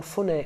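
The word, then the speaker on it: ふね: So in spoken Japanese, fune can be pronounced as hune, and hune is a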